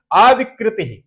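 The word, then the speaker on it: अविकृतिः: ठीक है, तो इसका उच्चारण होगा मूल प्रकृति ही अविकृति ही। इस रेप को विसर्ग हो जाएगा, आ निकलेगा, आ जाएगा इसमें, विकृति के साथ मिला देना, तो इसका उच्चारण करोगे अविकृति।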